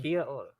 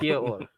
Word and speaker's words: Kia ora: Kia ora. Kia Yeah. or Mhm. Kia or? Yeah, I sure ain't saying that shit right. I know. I ain't. Kia ora.